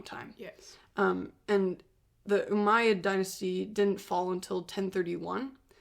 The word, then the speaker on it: Umayyad: in North Africa at that time the uh umayyad caliphate which is you know just just the